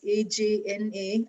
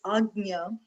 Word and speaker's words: Ajna: Normally, most people write it as AJNA, Ajna, but the actual pronunciation I've come across, and in languages we speak, I'm familiar with, it's Agnya. And maybe Agnya is difficult to pronounce and they have made it Ajna.